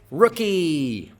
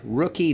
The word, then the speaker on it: Rookie: end of the syllable rookie very good rookie the uh stress is on the first syllable and then we have